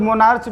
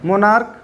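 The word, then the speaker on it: monarch: अब अगर मैं बात करूं क की, तो जैसे मैं बोलूं मोनार्क, कुछ लोग मोनार्च भी कहते हैं उसको, तो मोनार्च गलत प्रोनाउंसिएशन होता है, उसको पढ़ते हम लोग क्या है, मोनार्क।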